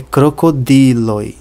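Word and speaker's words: krokodilo: tônica sobre o e crocodilo se a sílaba tônica caísse sobre o primeiro o a pronúncia seria crocodilo Se fosse no último o a pronúncia seria crocodilo mas não é nem crocodilo nem crocodilo é crocodilo sobre o di esquimo se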